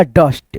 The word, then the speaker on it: dust: जैसे यहाँ पे DUST है तो इसको आप पढ़िएगा डस्ट। क्या पढ़िएगा, डस्ट। यू का उच्चारण ज्यादातर दोस्तों अ में होता है।